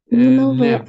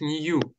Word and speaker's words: new: Только читается это не как нев, а читается как new.